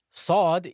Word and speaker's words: ص: Sod is pronounced from the tip of the tongue when it lies on the bottom incisors.